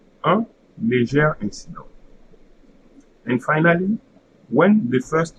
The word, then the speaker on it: un léger incident: starts with a vowel, then instead of saying A, because of the liaison, you are going to say that you are going to read the E. So, un léger incident. Un léger incident.